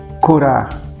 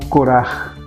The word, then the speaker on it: Corah: posição de hoje é curar curar ou curar curar a pronúncia mais adequada seria essa que quer dizer calvície